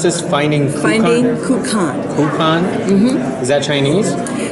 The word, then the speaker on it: Kukan: Kukan is, it's Chinese. Kugan would be the more specific, but in 1942 they called it Kukan, and that's the name of the original film.